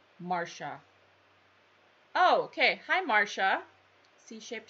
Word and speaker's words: Marcia: It was the C-shaped floral you showed in the beginning, pronounced Marsha.